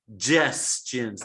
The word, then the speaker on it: suggestions: The first G is a hard G. Gestions. The second G is the John G. We call this the hard and soft G.